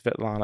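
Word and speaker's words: Svetlana: Sana or is it sveta it's it's it's it's spelled Asana zacharova okay so it's vet Lana that's easier for me to say than sveta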